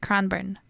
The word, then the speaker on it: Cranbourne: heal it yeah the suburb can born it's pronounced cranbourne um I see I know very little about